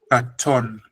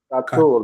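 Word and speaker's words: קָטֹן: It's got the O sound, cholem, on top. What is it? It's pronounced O. So the word is katon. Katon.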